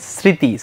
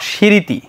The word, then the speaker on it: স্মৃতি: একটা চন্দ্রবিন্দু নিতে হয় এবার যদি আমরা খেয়াল করি স্মৃতি স্মৃতি নট সৃতি আমরা কি বলি স্মৃতি স্মৃতি দেখো এস এর মত উচ্চারণ হয়েছে এই কারণে এখানে আমরা দিলাম দন্তস ব্যাস আমরা বেশ কিছু